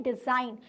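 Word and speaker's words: design: The letter G is silent.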